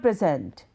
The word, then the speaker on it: present: The word present has two syllables that can be broken up and stressed differently depending on what you wish to say. Present, present. Hear the pronunciation. Present. First is present, present. The first example is a noun meaning a gift. The second is a verb that means to introduce.